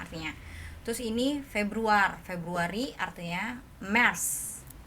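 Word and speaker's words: März: Terus ini Februari artinya Mars. Cara bacanya Mars.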